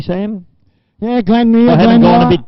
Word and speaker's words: Glanmire: Glanmere Park, have I pronounced that correctly, Sam? Yeah, Glanmere.